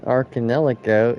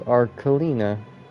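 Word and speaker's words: Arlecchino: is our homeland and I've been pronouncing her name wrong all this time it was an arcadelico it was arkalina so from Small Deeds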